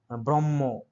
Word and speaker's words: ব্রহ্ম: ঠিক আছে, তারপরে হচ্ছে হ এবং ম, এটার উচ্চারণ এই দুটো বর্ণ যুক্ত হয়ে এই শব্দটি উচ্চারণ করেছে, এবং এটার উচ্চারণ হচ্ছে ম, ব্রহ্ম।